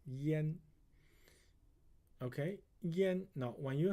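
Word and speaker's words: 殷: this is in now this one has another pronunciation called Yen okay Yen now when you have when you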